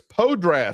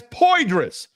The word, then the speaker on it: Poydras: And my 13-year-old actually said, Dad, where is Podras Street? Podras? Yeah, the Poydras. That's Poydras.